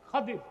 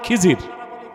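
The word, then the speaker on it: خضر: খাদির, বিফাতহিল খা ওয়া কাসরিদ দাদ, খাদির। এটারে বক্তারা বলে খিজির, তো জনগণ বলে খোয়াস খিজির।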